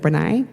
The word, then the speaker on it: Brené: Brené Brown, Brené, I don't know how you pronounce it. Brené, we pronounce it Brené.